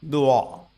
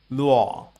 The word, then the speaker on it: 落: The combination WO or UO is pronounced rather like the beginning of the English word wall.